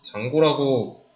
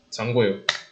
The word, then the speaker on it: Django: 그거는 장고라고 부르고요. G는 묵음입니다. 장고예요.